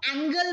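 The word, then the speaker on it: angle: जो ए एन जी एल ई वाला एंगल होता है इसको हम एंगल प्रोनाउंस करते हैं.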